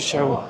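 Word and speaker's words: 四: Mniej więcej brzmi to jak si w naszym języku i tutaj 4 i śmierć wymawia się bardzo podobnie, stąd liczba 4 kojarzy się Azjatom ze śmiercią.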